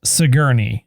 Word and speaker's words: Sigourney: who plays a character named brandon uh it's pronounced sigourney okay get it right and it was long's